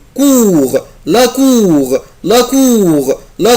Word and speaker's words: cour: la cour la cour طبعا اخلي بالي يا ولاد حرف لا لتر او بلس لا لتر يو يعني الاو والاو بنطقها او كور لا كور لا كور لا كور كور اللي هو البلاي جراوند بتاع المدرسة.